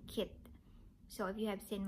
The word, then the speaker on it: Keith: i am wrong and i shouldn't pronounce charles and kate i should pronounce it charles and kit so if you have